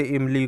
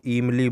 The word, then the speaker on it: इमली: तो पहला है छोटी और बड़ी, ह्रस्व ई और दीर्घ ई के उच्चारण में अशुद्धियाँ, जैसे इमली को ईमली बोल देना, ईख को इख कह देना, या इसी प्रकार एक शब्द है ऋषि, ऋषि को ऋषि बोल देना।